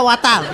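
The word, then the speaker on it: water: ওয়াটার না, এটা ওয়াটার। ওয়াটার। জি স্যার। জিহ্বার আগে সামনের দুই দাঁতের সাথে লাগবে।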